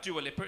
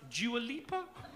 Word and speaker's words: Dua Lipa: so when you're pronouncing it wrong it's not pronounced duolipper it's pronounced Dua LIPA it's like I'm so sorry madam do I